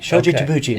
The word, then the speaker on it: Shoji Tabuchi: say his name uh shoji shoji tabuchi most people mispronounce it yeah i would definitely